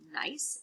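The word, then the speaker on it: gneiss: metamorphic is something called nice it has a g that g is silent marble and in Marble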